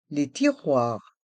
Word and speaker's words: tiroirs: les placards les placards les tiroirs les tiroir dans le mot tiroir le les voyelles o et i font le son o et on prononce bien le R qui reste en suspens mais le s est